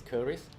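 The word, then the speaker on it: keris: So the Malay word for that is curries. So in English, you can call it Chris.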